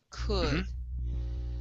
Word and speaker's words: could: uh let's go to the word could instead of give me an uh sound she could pick she could could could there you go she could pick one